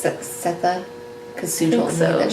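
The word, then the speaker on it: Sethe: I said Setha. I don't know how to pronounce it. I think it's Setha, because Sue told me that she thought that was true also.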